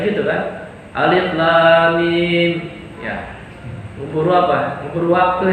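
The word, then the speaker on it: الم: Lam dengan mim panjangnya sama, jangan beda.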